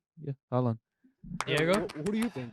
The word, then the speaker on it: Haaland: It rhymes with Folland.